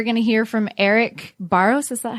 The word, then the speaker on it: Barros: Well, next up, we're going to hear from Eric Barros. Is that how you pronounce it?